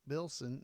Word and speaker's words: Bilson: So, yeah, Bruce Bilson, the first time, Bilson, did I say it right? Yeah.